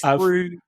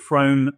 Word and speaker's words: Frome: Am I saying it correctly? I know I'm bad with... Yes, Froome. Not people tempted to call it Frome, but yeah, Moog, Yes, right.